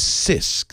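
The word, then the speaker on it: CISC: chip design from Intel's Intel's chip design is sisk the SI insist stands for complex literally the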